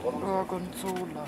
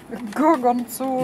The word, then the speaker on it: Gorgonzola: Ja, wird der Käse richtig ausgesprochen? Gorgonzola. Logonzola? Gorgonzola.